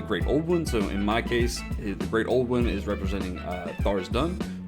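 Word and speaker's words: Tharizdun: Old One is representing Thars Dun, Thars Dun, however you want to say it. I believe Thars Dun, though, is the way to pronounce it.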